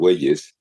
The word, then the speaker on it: Argüelles: well tell me your last name if you pronounce it right I don't want to busher it okay my name is Ares Ares I'm from Mexico go and um I have